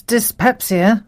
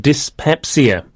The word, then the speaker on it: dyspepsia: This word starts with the prefix dis, but this time it's spelt D-Y-S.